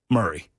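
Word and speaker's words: Maury: to a county that doesn't know how to pronounce itself. Murray, because it's spelled different. It's spelled Mory County, right? Like uh like like Mory Povich. Yeah. But it is pronounced Murray.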